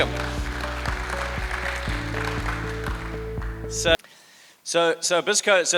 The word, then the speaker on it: Bisco: It's business co or Bisco. We have friends who get the name wrong. They call it business anco. It's not like Mckenzian company or anything like that. It's it's Bisco.